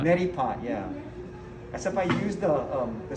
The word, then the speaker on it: neti pot: Neti pot? Neti pot, yeah.